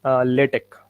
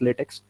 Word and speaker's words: LaTeX: so first of all we should know that the pronunciation is latex now we don't call it as latex so this is the